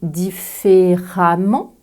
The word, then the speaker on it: différemment: deuxièmement le mot violemment tous les adverbes qui se terminent en e ment se prononceront comme le mot femme avec la première lettre E le premier e prononcé comme un a très ouvert je dirais donc violament